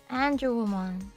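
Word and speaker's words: Angewomon: And And No, but it's pronounced an angel woman.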